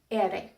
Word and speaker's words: ere: The single R is tapped. Ere. It sounds like the double D in the word ladder, or the double T in the word bitter.